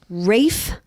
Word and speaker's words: Ralph: now let's talk about how we pronounce this first name ra fines Rafe fines Rafe that's what I've heard wait it's not Ralph I thought it was